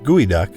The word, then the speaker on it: geoduck: even stews number three guoy duck pronounced guoy duck this giant clam from the Pacific Northwest is unlike anything else with its long stretching siphon and slightly crunchy texture guy duck is a prized delicacy